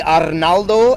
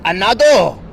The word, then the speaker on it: Arnaldo: Either way, she can't say Arnaldo and she can't say Arnaldo. She says Anado.